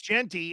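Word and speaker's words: Jeanty: I'm like, am I pronouncing this right? Oh yeah, it's Genty, and yes, and I tried to be like a pronunciation freak, but on the other side, the Auburn-Florida matchup.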